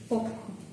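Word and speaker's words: পক্ষ: If it is in the middle or at the end, you will pronounce it as okha.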